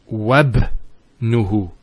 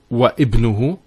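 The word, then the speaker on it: وابنه: So it's wabnuhu. It's not wa ibnuhu, it's wabnuhu.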